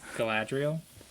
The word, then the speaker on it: Galadriel: How was my pronunciation? Was I on point? Galadriel.